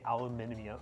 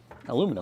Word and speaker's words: aluminum: I said lame as mods for deleting my message and being the way Americans say aluminium. Aluminium. Aluminum.